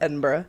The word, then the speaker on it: Edinburgh: That's how it's spelled, but it's pronounced Edinburgh.